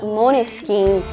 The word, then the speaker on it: Måneskin: A banda, com o nome de pronúncia correta, Maneskin, tem o significado de